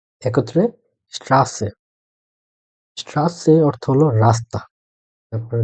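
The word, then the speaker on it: Straße: তো এইটার যে একটা শব্দ দেওয়া আছে এস টে ইয়া আ এসেট এ, একত্রে স্ট্রাসে।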